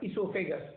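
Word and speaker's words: oesophagus: Starts with O-E-S-O, but esophagus is the pronunciation.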